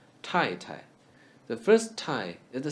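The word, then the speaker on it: 太太: Tai, Tai. The first Tai is the same as the word tie. And the second should be reduced to T. Tai Tai is a polite way of saying wife.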